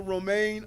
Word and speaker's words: Romaine: want to just bring principal romaine up and it's this nothing you shouldn't be surprised to know that it rhymes with romaine lettuce but but she had